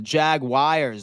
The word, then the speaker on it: Jaguars: baby the Jag wies lose by one the Jag wies lose by one hey man that's exactly how you pronounce it by the way too seven and